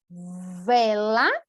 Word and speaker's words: vela: Vela. Vala. Também, né? Então, agora, só escutem, percebam aqui a diferença. Eu vou pronunciar e vou circular o que eu pronuncio. Bela, vela. Bala, vala. Super diferente, certo, gente?